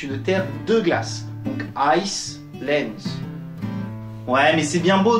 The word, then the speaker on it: Iceland: Donc Iceland.